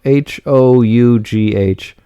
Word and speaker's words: Hough: Hough. I know it's one of those where it looks differently than how it sounds.